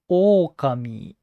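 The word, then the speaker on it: おおかみ: the pitch of okami is okami the first letter is high pitch or the second o is low pitch the important thing is where to fall oh kami as a wrong example when you pronounce like or kami or kami it would convey a different meaning okami is right pronunciation and for rhythm it's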